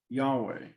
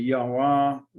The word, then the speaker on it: Yahweh: name is yahweh yahwah yahweh yodeva if you want to say yahweh if you want to say yahwah it's all the vowel points and how you pronounce it but yodeva it's going